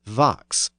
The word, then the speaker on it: vox: The other notable sound change in the first line is the pronunciation of fox as vox. The word is actually spelled V-O-X.